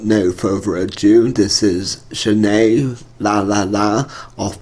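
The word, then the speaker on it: Zhané: Yeah, anyway, so that was Zhane off the album pronounced Zhane.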